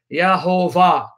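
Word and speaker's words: Yehovah: And the way they pronounce it is Yahovah, Yahovah, from which we get Jehovah.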